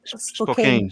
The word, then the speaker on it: Spokane: How do you pronounce Spokane or Spokane?